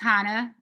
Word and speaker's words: Hannah: My name is pronounced Hannah for everybody.